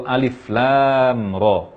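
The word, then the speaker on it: الر: Alif tidak dibaca panjang, lam dibaca 6 harakat, lalu tanpa gunnah yang sangat sempurna, lalu beralih ke huruf ra dengan panjang 2 harakat saja tanpa imbuhan hamzah, tanpa menutup pita suara setelah mengucapkan ra.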